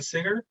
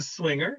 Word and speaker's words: Swinger: I remember when I first heard Martin Singer sing that song, and I said his name wrong, Martin Swinger, when Martin first sang that song, and I love the new verses.